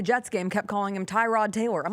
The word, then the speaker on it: Tyrod: Whoever was calling the Jets game kept calling him Tyrod Taylor. I'm like, I thought we went through this. He said his name's Tyrod.